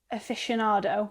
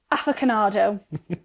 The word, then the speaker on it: aficionado: And then I got a voice note saying the word he was trying to say was aficionado. Which I just said. A big fan of. Matt pronounced it afficionado.